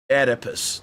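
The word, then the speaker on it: Oedipus: So, we going to go ahead and see if Google will pronounce this for me. Edipus. Edipus.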